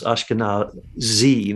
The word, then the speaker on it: Ashkenazi: your thoughts on the Ashkenazi thing yes the word I always mispronounce ashkana Z not V I always pronounce it with a V but uh basically they're